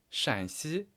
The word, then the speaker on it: 陕西: 差不多先生说是陕西，老师说不对，其实是山西，声调是不一样的。